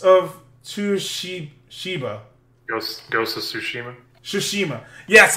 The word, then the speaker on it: Tsushima: Tsushima. Yes, I forget the T's are never fucking pronounced. Japanese 101. It goes with an S.